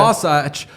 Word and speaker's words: Wasatch: Wasatch.